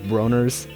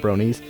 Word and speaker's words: Bronies: reason why is because XQC mispronounced the name all the time. He kept calling us Broners, thinking that's what we were called, not Bronies.